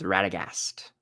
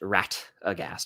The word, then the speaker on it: Radagast: The answer was Radagast, spelled Radagast. But I did accept Ratagast because I know that it's pronounced that way sometimes.